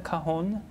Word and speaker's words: cajon: What is Oh yeah, I played a cajon. I studied how do you percussion.